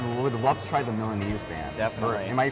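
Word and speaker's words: Milanese: or anything I would love to try the melanese band am I you pronouncing that correctly yep yeah so with this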